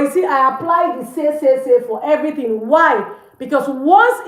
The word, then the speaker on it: ces: You use say, CES, say.